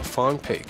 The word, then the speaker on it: Franprix: 市，叫做 Farm Pig，法文发音念起来有点像中文的放屁，也是一